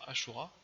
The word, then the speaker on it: Asura: Alors je préfère dire Ashura, hein, de base, parce que c'est plus joli, c'est plus classe, mais ça s'écrit Asura.